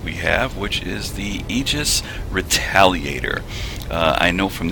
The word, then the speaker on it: Aegis: the ships that we have which is the aegis retaliate err i know from this angle it